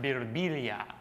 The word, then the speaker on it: Birbiglia: And sometimes people come up to me and they'll be like, you know, in Italy it's pronounced Birilia.